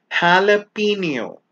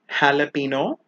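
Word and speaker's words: jalapeño: Jalapeno. Not jalapeno. Jalapeno.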